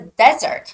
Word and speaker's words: desert: a very famous word it's not desert desert like Mojave Desert no it's dessert so the difference is when it's a desert like there's lots of sand no water the stress goes on the first heat so it's desert desert but in this case it's dessert so the stress goes on the secondly so it's got to